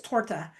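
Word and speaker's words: торта: so for example, the word cake, the word cake is torta, but it's spelled like topta because some of their letters are like a P is an R.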